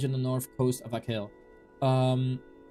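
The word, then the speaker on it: Achill: Pronounced Akil. Oh, it's Akil. It's Akil, not a shill.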